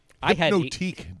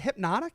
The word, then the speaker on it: Hypnotique: Hypnotique, dude. Have Yeah, you ever heard of Hypnotique. Hypnotique? I haven't. No. Okay. Wait. Is it hypnotic? Yeah. Oh, yes, that's it. I've been saying it wrong all these years.